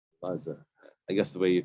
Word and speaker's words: Elazar: Elazar.